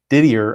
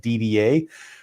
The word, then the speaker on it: Didier: in my business and we would pronounce that like DBA but I think he pronounces it Eric Didier so and he's a